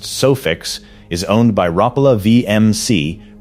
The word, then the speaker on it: Sufix: Sufix, pronounced Sufix, is owned by Rapala VMC, pronounced Rapala.